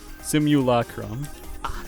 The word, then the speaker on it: simulacrum: bachelor by the way i've been mispronouncing simulacrum for like ever because i would ignore the law part part because it just